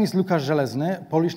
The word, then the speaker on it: Zelezny: It's like Łukasz Żelazny, and this is the pronunciation.